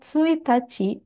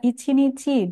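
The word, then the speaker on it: 一日: Untuk kanji ini, kanji angka 1 dan kanji nichi bisa dibaca tsuitachi dengan arti tanggal 1 atau bisa juga dibaca ichinichi dengan arti satu hari.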